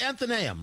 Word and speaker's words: Athenaeum: Craig Mintz joins us right now from, I'm always thinking I'm pronouncing it wrong, sir. It's Athenaeum, right?